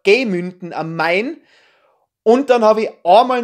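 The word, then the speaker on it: Gemünden am Main: dem das Festival stattfindet falsch ausgesprochen ihr hab gesagt münden richtig heißt es aber gemünnden am Main und dann habe ich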